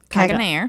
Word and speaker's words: Caganer: Caganer.